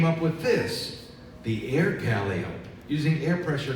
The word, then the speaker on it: Calliope: Calliope not Calliope Calliope is the circus pronunciation for the instrument so let's all try to say it like a circus person Calliope how they know